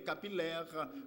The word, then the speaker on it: capillaire: Parce que nous tendons dire filles. Mais prononciation, c'est osciller, distiller, capillaire, comme dans tranquille.